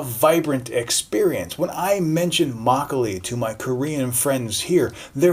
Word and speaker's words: makgeolli: pronouncing this word and you're going to pronounce it mackey oli not makgeolli.